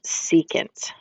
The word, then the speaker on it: secant: the reciprocal of cosine and and this is pronounced secant okay so secant is the reciprocal of cosine um now you